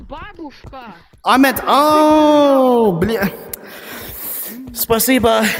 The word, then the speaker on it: babushka: I know what babushka means. Baboo Tovarish, tovarish. Babushka means grandma. Duh. No, it's it's not babushka. It's babushka.